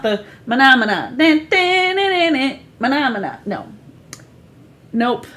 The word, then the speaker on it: Menomena: Anytime I say Menomina. Well, in the way they spell it, it's MENOMENA.